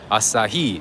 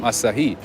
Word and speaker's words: Asahi: to do that as well there you go asahi oh that's how you say it oh thank you me i know you got my back all the time asahi okay what is this there's a bakery here